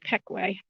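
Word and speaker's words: Pequea: peckway creek spelled p qu UA and it's pronounced Peekay there's some kind of steps buil in down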